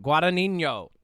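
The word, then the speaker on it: Guadagnino: Guadinho.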